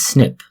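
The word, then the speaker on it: SNP: called single nucleotide polymorphisms the acronym is often pronounced as snip snips differ from substitution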